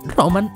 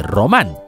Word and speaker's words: Román: Muy probablemente en el caso de las tierras de los Román, probablemente a lo mejor la gente decía Roman en lugar de Román, y así, con tanto decir Roman, terminó convirtiéndose en Roma.